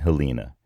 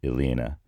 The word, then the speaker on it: Helena: is the island of St Helena or St Elina depending on how how you pronounce it so that island is